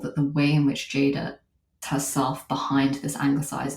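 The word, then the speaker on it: Ceyda: bit about her name so her name is Jada which is a Turkish name but it's in Turkish C the letter c is pronounced like the letter Jade so it's spelled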